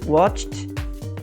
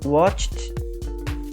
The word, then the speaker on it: watched: Aos que terminam em CH, watched, watched, ok? Então nós temos watch e passou a ser watched. Ficam 2 estralinhos, né? Na nossa língua, 2 estralinhos, um seguido do outro, watched.